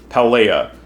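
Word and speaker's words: Paldea: of paleo Pub pal pelea I believe that D is silent if memory serves a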